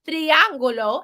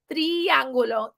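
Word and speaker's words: triángulo: has an accent mark triangulo is a triangle it almost sounds like it has the word tree at the beginning because that I sounds like a long e tree triangulo triangulo it's a triangle cuadrado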